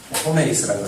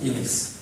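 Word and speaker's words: ὑμεῖς: 호메이스라고 하는데 이미스라는 말이 정확한 발음입니다. 이미스.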